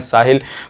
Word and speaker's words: Sahel: Appointment book करना पड़ेगा, जिसकी स्पेलिंग मैं आपको बता देता हूँ, SAHEL, जिसका नाम है साहिल।